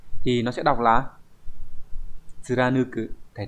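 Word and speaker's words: 貫く: Thì nó sẽ đọc là tsuranuku.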